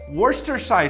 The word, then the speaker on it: Worcestershire: call it english sauce over here but it's pronounced worcestershire sauce i don't know some